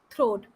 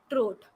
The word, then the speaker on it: throat: had bubble in his throat so the last word th ro80 this is throat not trot remember this so this